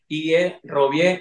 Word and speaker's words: Robbie: Me pueden contactar como Robbie La Cruz, se lo voy a deletrear, R-O-B-B-I-E, Robbie, se escribe así, pero se pronuncia Robbie, Robbie La Cruz, La Cruz, ya normal.